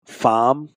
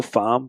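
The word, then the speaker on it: Faim: a lot called um fam it's spelled f a i m it's pronounced like in French though fam they actually just played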